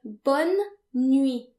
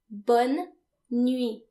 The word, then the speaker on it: bonne nuit: To wish someone good night, say bonne nuit. Bonne nuit. And remember, the final T is silent because in French, most final consonants are silent.